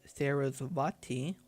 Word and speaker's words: Sarasvati: Pronunciation. Sarasvati. Okay. Alternatively, following a Hindu tradition, it is Sarasvati, wife of Brahma, who is credited with bringing language to humanity.